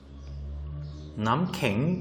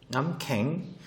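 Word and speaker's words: น้ำแข็ง: 남캥. 이때 이 발음은 남캥.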